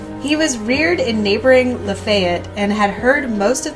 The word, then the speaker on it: Lafayette: la la fayette which is pronounced her like it's spelled Lafayette but in Tennessee we call it Lafayette we'll